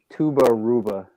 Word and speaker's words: Tubba Rubba: Tubba Rubba. No idea what that is. I believe it is supposed to be pronounced Tuba Ruba.